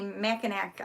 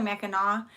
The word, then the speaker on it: Mackinac: yeah so people look at and they'll say makanak island or makanek whatever and i'm like it's actually mackinaw it's spelled with the sea but it is pronounced